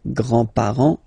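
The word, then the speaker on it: grands-parents: Le grandpar le grandpar you don't pronounce this final s here grandpar okay so grandfather l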